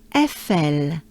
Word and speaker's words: Eiffel: Eiffel, Eiffel. So here basically we have twice the sound E. E, E, E, E, E. E, E. And we merge them with a few consonants.